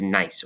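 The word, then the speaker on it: gneiss: So granite changes into nice over here after a lot of heat and pressure. That's how you pronounce it right there.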